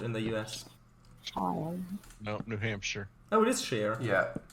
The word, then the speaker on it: New Hampshire: in the U.S no New Hampshire oh it is sheer yeah yes it is why is that word pronounced British English actually it's it's more not sheer it's more sure New Hampshire yeah why